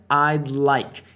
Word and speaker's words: I'd like: Repara na pronúncia I'd like. Esse D fica bem sutil.